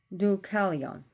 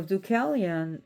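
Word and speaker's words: Deucalion: So offspring by prona he had ducalion du duon. I hope I'm pronouncing it right. D e u k a l i o n.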